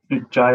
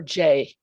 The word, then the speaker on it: Jai: Jai in Southern Australia, is that? Yeah, I'm in Australia, so it's mid-afternoon here. And it can be pronounced Jai, but I prefer Jay, just Jai.